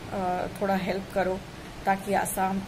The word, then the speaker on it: Assam: इट्स आसाम, इट्स आसाम, इट्स नॉट असम। आप लोग बहुत व्याकरण देते हो, हिंदी भाषा, तो आप हिंदी पहले बोलना सीख लीजिए। आप भारतीय है, आप भारतीय होके प्रोनाउंसिएशन इतना मत बिगाड़िए किसी स्टेट का। इनका नाम है आसाम, आसाम, असम नहीं है।